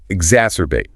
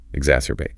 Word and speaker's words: exacerbate: Exacerbate. Verb meaning to make a problem or bad situation or something negative even worse. Pronunciation. Exacerbate.